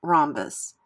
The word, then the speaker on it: rhombus: silent as in doubt when R is before H the H is silent as in rhombus words with w WR